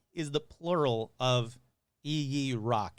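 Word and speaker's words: ijiraq: same thing anyway so i'm just going to go with ee rock because that seems to be the most prominent one um it's from the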